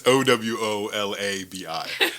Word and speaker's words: Owolabi: So it's spelled just like it sounds. Owalabi. That's close. Oh no. Okay. It's Owolabi.